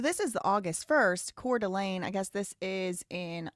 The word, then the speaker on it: Coeur d'Alene: That's how you pronounce that, Coeur d'Alene.